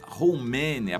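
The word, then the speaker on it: Khomeini: de sacerdote muçulmano o aiatolá romênia pronúncia essa mas na verdade escreve com commenee era o grande líder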